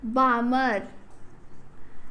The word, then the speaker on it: Balmer: This series of line belongs to visible region, and these lines are called as an Balmer. L is silent here, Balmer series.